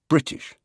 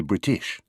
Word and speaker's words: British: as hoping and quickly we always say British we never say British or britsh always machine never machine or